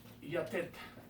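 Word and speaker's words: יתד: La palabra estaca en hebreo se escribe así, o se pronuncia así, más bien dicho. Yatet.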